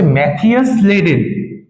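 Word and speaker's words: Matthias Schleiden: Zoologist ছিলেন, যার নাম কি, যার নাম হচ্ছে ম্যাথিয়াস স্লেডেন। ম্যাথিয়াস স্লেডেন। আমি জানি অনেকের উচ্চারণটা করতে কষ্ট হবে, তাই জন্য আমি নিচে লিখেও দিচ্ছি বাংলাতে, ম্যাথিয়াস স্লেডেন।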